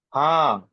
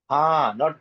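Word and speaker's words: हाँ: Ha, ha, not han.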